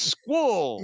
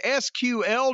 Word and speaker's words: SQL: And SQL is Squall. They actually say the letters. You don't try to pronounce it. Well, you can learn Python, HTML/CSS, SQL, JavaScript, and more.